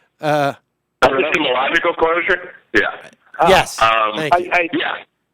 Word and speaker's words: epistemological: I learned from Chris Hayes that's called a pessimistic closure, I think it is. What is that? What is it? Am I pronouncing it wrong? Epistemological closure?